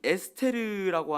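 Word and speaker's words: אסתר: 조금 더 올라가서 에스더 보면은 에스더는 에스테르라고 하는이 히브리어 발음을 하는데 이건 바로 바벨론 여신이 슈타를 그냥 똑같이 음해서 갖고 온 겁니다.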